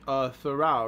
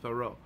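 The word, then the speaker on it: Thoreau: the philosopher Henry David thoral right I think that's how you say his name thoral thoro thoro I think it's thoro uh famously lived in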